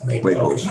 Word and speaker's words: Waples: It's like Maples. Waples, yeah.